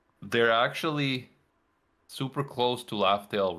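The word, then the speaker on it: Laugh Tale: know that it's actually Laugh-tail. Laugh-tail, not Raftail. Laugh-tail, yeah. Yeah, laugh tail, like a tail Oh, that's funny. they say R because Japanese doesn't have L's.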